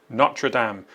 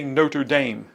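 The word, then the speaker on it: Notre-Dame: The answer to that is NRAAM. Don't say Notre Dame in French. It's uh NRAAM meaning our lady.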